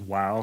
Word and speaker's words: Vav: So you have the tetragrammaton, Yod, He, Vav, He, right? Or sometimes I guess the God, He, Vav, He. Yeah, the V is sometimes pronounced wow, so sometimes they'll say Yod, He, Wow, He, something like that, right?